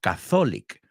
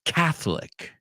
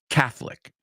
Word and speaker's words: Catholic: And I want you to pronounce that word with me because it's not Catholic. I've heard a lot of students say Catholic. It's Catholic. La O no se pronuncia. Escúchalo. Catholic.